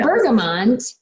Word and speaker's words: bergamot: But if we go down to Bergamot, or Bergamo, however you want to pronounce it, I do have the option.